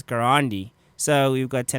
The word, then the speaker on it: Garandi: name to be pronounced it's not gandi it's garandi so we've got got